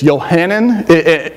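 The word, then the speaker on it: יוחנן: actually is much longer originally it's johanan yanan there's a guttural in there I'm not going to get it right but it's lot there are actually three syllables there and it means god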